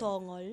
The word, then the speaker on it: Tongol: impeachment court na si Attorney Tongol o Tonggol. Ano ba ang pronunciation doon? Tongol. Tongol.